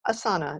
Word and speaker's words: Asana: said you know what it actually doesn't matter so it's its asana that's the way people say it it's fine it's a beautiful word